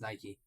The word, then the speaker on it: Nike: not even a word it's a brand that's why I don't understand what the problem is because it's pronounced Nike okay give me a second